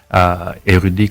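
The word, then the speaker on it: Airudi: Érudit, comme son nom l'indique, c'est érudit, mais ça s'écrit A-I-R-U-D-I.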